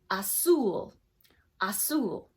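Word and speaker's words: azul: have these tricky ones the Z in Spanish is pronounced like an S so blue is pronounced 'soul 'soul okay now orange this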